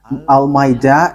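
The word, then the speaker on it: Al-Ma'idah: So the way you write it, Al-Maida, is as it is pronounced, Al-Maida.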